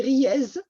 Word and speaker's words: Riez: Riez, en fait, c'est Riez, le Z se prononce.